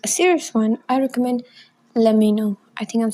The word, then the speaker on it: LEMMINO: But if you want a serious one, I recommend Let Me Know.